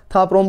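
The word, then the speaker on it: Ta Prohm: प्रोम ऐसे था प्रोम आपको थोड़ा सा स्पेलिंग वाइज क्योंकि वहां कंबोडिया की लैंग्वेज है ना इसलिए वहां पे ऐसा था प्रोम बोला जाता है तो इस तरह वहां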